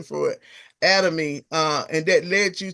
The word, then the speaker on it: Atomy: out um about uh is it autonomy atom or at a atom? It's called Adom. I I got it all wrong y'all. That made up a whole another pronunciation for it. Atomy.